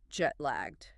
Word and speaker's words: jet-lagged: Jet lagged. Sounds like jet-lagged. 2 parts. Jet, like the airplane. Lagged, like L-A-G-G-E-D. Jet-lagged. The stress is on the first part.